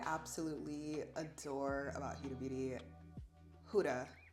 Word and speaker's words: Huda: One thing I absolutely adore about Huda Beauty, Huda, because I feel like I've heard other people pronounce it and I've been pronouncing it wrong.